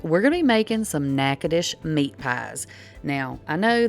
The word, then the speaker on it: Natchitoches: is the way you pronounce it it is pronounced nakadish so just trust me on that one okay